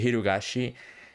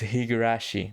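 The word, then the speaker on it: Higurashi: most was um the hirogashi um gameplay that i think that i'm pronouncing right higura jesus christ i messed it up again because i do not have it here uh but it is higarashi there you go as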